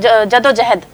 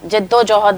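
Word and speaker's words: جدوجہد: आपने अपनी उर्दू ठीक करनी है, बस आपने प्रोनाउंसिएशंस ठीक करनी है अपनी, कि जैसे बहुत गलत आम लफ्ज़ हैं, जद्दोजहद बोलते हैं, जद्दोजहद होता है लफ्ज़।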